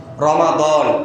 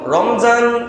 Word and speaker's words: রমাদান: রমাদান। রমজান এটা বলা ঠিক না, আরবিটা উচ্চারণ করাটাই ভালো হয়।